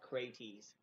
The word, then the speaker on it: Crates: we do anyways but what i was told is to pronounce every letter so probably his name is pronounced crates okay well krates um was followed by